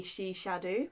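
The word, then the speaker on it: Sinsar Dubh: to any Gaelic speakers it's spelled since I do but it's pronoun dub but it's pronounced the she shadow she discovers I can't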